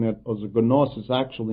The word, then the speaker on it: gnosis: Gnosis in the Greek language means knowledge, and I am purposely pronouncing it as gnosis. Actually, in the English language, the G is not pronounced, so it would be gnosis.